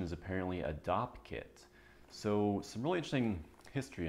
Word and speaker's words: Dopp kit: may have noticed is I called it a Dopp kit not a dope kit or a toiletry bag which this is a